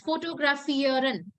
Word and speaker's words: fotografieren: It's fotografieren. And what do you think fotografieren can be? Photography. To photography, Rishtish. So fotografieren, that means to take photos.